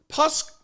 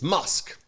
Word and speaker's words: Musk: role on Friday morning pusk excuse me he's not pus it's it's musk musk that was actually